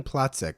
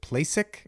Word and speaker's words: Placek: Is it Placek or Placek? Normally Placek because it's like a German. Pronouncing Placek would be the US The version of American version.